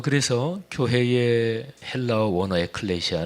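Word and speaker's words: ἐκκλησία: 그렇게 표현할 수 있죠 교회 란 말의 헬라어 원어 가 에클레시아 이렇게 발음을 합니다 근데 이 단어는 두가지가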